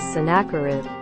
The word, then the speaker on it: Sennacherib: pronunciation of the sennacherib the voiceover does not know how to spell it correctly in the proper pronunciation is synacurid disruption of the century